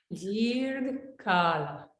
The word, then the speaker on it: dirgha kala: Dirgha Kala. So somebody's not muted, so mute yourself, everybody, okay? Dirgha kala.